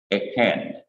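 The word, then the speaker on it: ־כֶן: Second person plural feminine is simple shua, kaf, segol, noon, E-K-H-E-N, eken.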